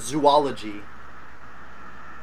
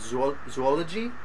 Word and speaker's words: zoology: times but like here's zoology okay yeah that the the way that you pronounce that was more like zoology like the it should be these two separate sounds who are zoology okay